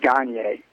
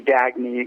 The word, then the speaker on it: Gagne: The correct pronunciation is Gagne. It's sort of, morphed into Gagne, got Americanized.